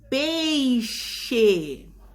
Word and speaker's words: peixe: Som de CH. Olha lá o exemplo, ó. Peixe, caixa. Novamente, a palavra escrita com X, mas quando a gente pronuncia, a gente percebe uma pequena mudança no som, o som do CH.